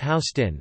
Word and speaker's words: Houston Street: Although the grid does start with First Street, just north of Houston Street, the southernmost street divided in west and east portions, pronounced Houston, the grid does not fully take hold until